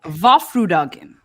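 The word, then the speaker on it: Vårfrudagen: the Feast of the Annunciation, they call it Our Lady's Day, which is pronounced Vaffrudagen, which sounds strangely close to the word Waffeldagen, which would mean waffle day.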